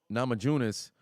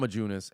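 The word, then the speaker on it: Namajunas: so far was uh um Nama junis not majunis and um Jed dressik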